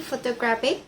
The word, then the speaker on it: photographic: Number three, photographic. The suffix IC moves the stress from photograph first syllable to photographic third syllable.